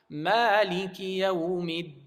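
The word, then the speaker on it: مالك يوم الدين: So you're supposed to recite it without any nasal sound. So I'll recite it correctly now. Maliki yawmiddin.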